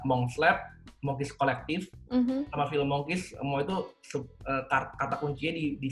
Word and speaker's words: Filmonkish: Ada yang bilang film On Kiss, ada yang bilang film Monkish, yang sebenarnya adalah film Monkish.